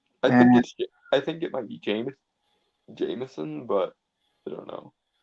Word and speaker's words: Jemisin: I think it might be Jameson, but I don't know. Well, there's no A; it's an I, like J E M I S I N. So Jemison, I suppose.